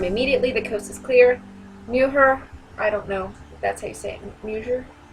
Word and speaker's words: mujer: Mujer, I don't know if that's how you say it. Mujer? Mujer? I know the J has like an H sound in Spanish.